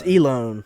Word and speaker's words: Elon: Elon or Elon? It's Elone. Elon.